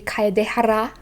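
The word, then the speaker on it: Kaedehara: will struggle with that what i think of it is um is like a start of a rolling r you know in spanish so it would be kaidehara the reason why it's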